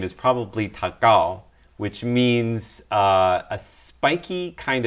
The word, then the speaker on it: Takao: If you pronounce it in Japanese, it's Takao.